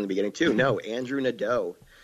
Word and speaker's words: Nadeau: EAU is always O in French, except for beautiful for some reason, which